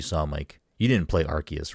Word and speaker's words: Arceus: Okay, I liked Arceus. I think it was a fun, like. It's a hard C.